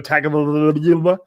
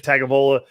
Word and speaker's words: Tagovailoa: And it'd be great if Ryan Fitzpatrick would start because I don't want to see Tua Tagovailoa with his little thumb injury.